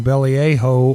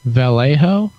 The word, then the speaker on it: Vallejo: might know somebody from belly a hoe or something I believe that's a pronunciation California who I know is listening on the stream now he's on a screen Vallejo yeah who am foo